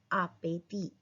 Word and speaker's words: appétit: Bon appétit. Appétit. Last वाला T silent पर यहाँ पे क्या बन रहा है लिएजो.